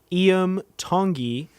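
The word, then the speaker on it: Iam Tongi: played with Lindsay L and he's played with IEM tongi of American Idol is that how you say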